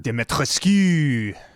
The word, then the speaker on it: Dimitrescu: How do you pronounce her name even? Dimitrescu.